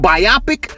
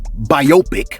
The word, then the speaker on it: biopic: Hey look, according to the Cambridge Dictionary, right, in the UK, they pronounce the word biopic, and in American English, it's pronounced biopic. You know, like microscopic, topics, antibiotics, optics.